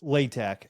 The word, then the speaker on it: Latack: I always want to say Latack, but it's Latack, right? No, it's Latack.